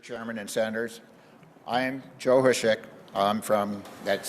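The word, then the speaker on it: Hosek: Chairman and Senators, I'm Joe Hushek. That's spelled H-O-S-E-C-K, and I'm from Great Falls.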